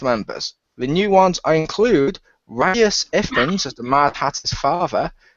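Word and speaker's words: Rhys Ifans: The new ones include Reyes Ifans as the Mad Hatter's father, and Sacha Baron Cohen as Time itself. I believe it's And pronounced Reese Fawns.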